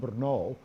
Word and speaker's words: Brno: Thomas Monastery in what was then known as the city of Brunn, but also Brno. I'm pronouncing it in German and Czech, and it was in fact an ethnic German-Czech city at the time.